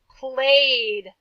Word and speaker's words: played: Played. I'm running out of room. Yeah, played makes the d sound at the end like stayed.